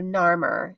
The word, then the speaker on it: Narmer: Um, but these are phonetic hieroglyphs, and so there's a horizontal fish, which is called nar, and above a vertical chisel called, and that's the sound mer. So Narmer, and it's phonetically spelling his name.